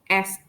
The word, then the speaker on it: est: For example, the exceptions are ouest, which means west. Sud, sud, which means south. Ouest, sud, est, which means exceptions means under these exceptions we pronounce the letters D and T. But most of the time when the two letters D and T are at the end of singular nouns, we don't pronounce it. But these three words are some exceptions.